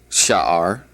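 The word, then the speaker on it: שער: Gate is the word sha'ar.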